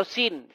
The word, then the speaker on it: Sin: Sin ya atau Suen bahasa Akadia atau bahasa Enzu ya dipronounce sebagai Suen atau Sin.